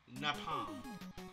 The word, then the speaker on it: Napalm: Napalm. Oh, like palm trees.